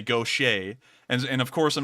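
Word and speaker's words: Gautier: town right here it looks like it's it's pronounced gaudier isn't it yeah it looks like that but it's actually pronounced gaucher and so if you're if you're from outside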